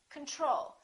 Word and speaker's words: control: we say control or do we say control we say control second syllable is stressed the first o is reduced repeat after me control